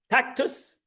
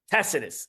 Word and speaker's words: Tacitus: was written by tactic tactus am I saying this tactus right tacitus I didn't say it right tacitus tacitus an historian of